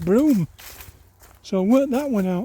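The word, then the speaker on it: Brougham: was pronounced BR but apparently it's pronounced broom so work that one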